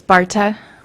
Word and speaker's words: Barta: lauren we'll take you how do you say your last name it was misspelled it's barta or okay got an extra eye in there yes they added that um